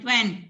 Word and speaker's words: Twain: Twain. That is the pronunciation By- is Twain. T silent हो जाता है.